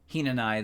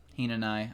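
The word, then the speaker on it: Hinanawi: syllable cuz you ran Oh the w silent like liked a Hina and I then Hina and I okay alright good grief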